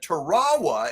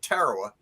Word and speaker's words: Tarawa: looked it up and Tarawa is actually the correct pronunciation for that linguistic group but Marines have called it Tarawa for 75 years so